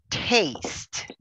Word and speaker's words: taste: So the sound of t at the end, it's a sound exclusive for English. So we need to practice how to say it, right?